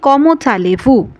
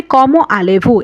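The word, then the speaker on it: comment allez-vous: কমচালিভু। কমচালেভু এটা অনেক বেশি পপুলার হলেও কিন্তু এটা ভুল। আমাদের উচ্চারণ করতে হবে কম আলেভু। এখানে দর্শক লেয়াজু কিন্তু হবে না।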